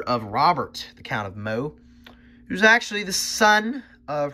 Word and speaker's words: Meaux: I think it's Meaux, actually. That's how you pronounce that. Adelaide of Meaux.